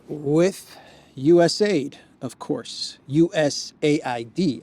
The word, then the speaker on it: USAID: us Aid of course us Aid actually is the more correct way to pronounce it us a d it looks like they